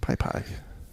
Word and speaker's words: PyPI: developers machines holy cow I guess it's not Pi it's Pi pie isn't it you know I'm afraid to even try to pronounce it because P pie sure we'll go with that that sounds right anyway um this is